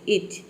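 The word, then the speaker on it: itch: आई टी सी एच इच यहां पे टी जो लेटर है ये मान लीजिए कि साइलेंट रहता है ठीक है आई का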